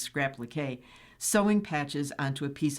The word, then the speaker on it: scrap-liqué: While she mostly creates entirely new garments from patches, Craig also excels at what she calls scrap-leak, or scrap-liqué, I'm sure that's pronounced scrap-liqué, sewing patches onto a piece of clothing for decoration.